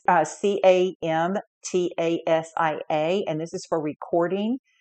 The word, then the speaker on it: Camtasia: You can use things like, I believe it's pronounced Camtasia. It's Camtasia, and this is for recording and editing your videos.